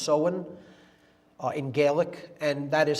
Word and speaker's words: Samhain: Pronounced Samhain, it looks like Samhain in English, but it's pronounced Samhain in Gaelic, and that is Halloween, or Hallowmas, October 31st.